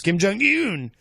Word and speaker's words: Kim Jong-un: I'm a stickler for pronouncing things correctly. Yes, it's Kim Jong-un.